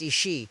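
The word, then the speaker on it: Aos Sí: The Ao-See, pronounced Ishi, literally means the people of the mounds or the people of peace.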